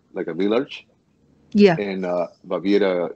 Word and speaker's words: Baviera: Baviera?